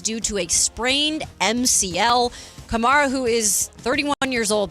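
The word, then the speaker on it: Kamara: Is it It's not Yeah, it's Kamar. Alvin Kamar. Not Chimera.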